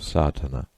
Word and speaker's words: Sadhana: may be added about the pronouncing of satana the accent Falls decisively on the first a which has the broad sound of the letter contents one the relation